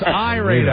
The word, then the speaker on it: Irada: Do we have Irada on the phone? You have Irada on the It's Irada. I'm sorry I mispronounced your name.